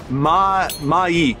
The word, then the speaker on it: Myik: Watching, we've got frequency, and is it Myik? I'm not sure how you pronounce the name. Yes, I got official spelling, or pronunciation is Myik.